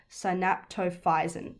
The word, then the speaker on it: synaptophysin: I want to pronounce this right. Okay, synaptophysin. There we go.